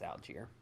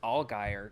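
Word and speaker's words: Allgeier: algier yeah it's algier I found out it's algier okay like I thought it was all gayer because but that's just because there's a NASCAR driver whose last name is all Guyer okay and it's spelled almost exactly the same but yeah I I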